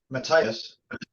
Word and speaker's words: Matthias: Matthias. Yeah. Matthias Jabs. Yeah, I always mispronounce it.